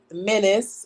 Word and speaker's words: M3NICE: It's Menace. It's spelled M3NICE.